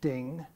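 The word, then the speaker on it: 丁: is a circle um it has a pronunciation in chinese is ding and probably it was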